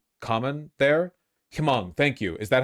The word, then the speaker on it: Hmong: Don't pronounce the H, just Hmong?